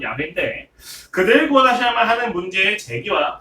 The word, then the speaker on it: 야훼: 오늘 본문에서 하나님은 모세에게 자신을 여호와라고 말씀을 하셔요. 정확한 발음은 야훼인데 그들을 구원하셔야만 하는 문제의 제기와 구원의 근거와 구원의 목적에 대해서 오늘 본문에 다 담겨져 있습니다.